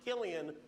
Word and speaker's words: Cillian: Interesting fact about his name, it's pronounced Killian when he does drama.